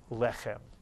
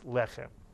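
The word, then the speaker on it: לחם: you whenever you see or hear the word lechem.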